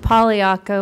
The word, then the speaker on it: Pagliacco: Thank you, candidate Pagliacco with a silent G.